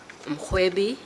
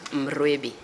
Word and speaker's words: Mrwebi: Mrwebi is written Mrwebi, but it is pronounced Mrwebi. So you pronounce that R as a G.